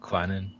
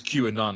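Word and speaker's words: Kwannon: never pronounce the name is it quannon yeah yeah I was want my brain goes q and on I'm right no it's not q and on definitely not q and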